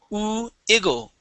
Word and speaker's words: wiggle: Okay, remember to start off with an oo sound with this W word. Okay, instead of wiggle, it is oo iggle, wiggle, wiggle their lips.